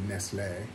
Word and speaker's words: Nestlé: extra and of course in Spain they don't say Nestle they say nesle cuz that's how you pronounce things here now this has now